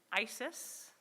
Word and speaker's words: Isis: So before we begin, I'll give you the quick pronunciation lesson. Isis, Astarte, Diana, Hecate, Demeter, Kali, Inanna.